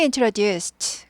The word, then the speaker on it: introduced: She introduced 그녀는 소개해줬어요. introduce 소개하다 트 발음 나죠. introduce가 무성음이기 때문에 트 발음이 나요. introduced 트 발음이 납니다.